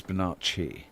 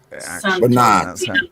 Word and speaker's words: Bonacci: Well, if it's got two C's and an I at the end, it's just want to correct you on the pronunciation. It's Bonacci. Bonacci, Bonacci, the Bonacci family.